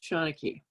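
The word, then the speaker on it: seanchaidh: And this, in typical Gaelic fashion, it's spelled S-E-A-N-C-H-A-I-D-H, but pronounced Seanachie. I am a professional storyteller, but I can't, won't ever consider myself the Seanachie.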